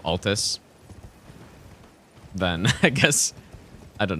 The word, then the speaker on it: Altus: I guess maybe yeah saying Atlas instead of Altus then I guess I